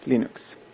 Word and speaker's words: Linux: is your cleaners and i pronounce linux as linux linux linux linux linux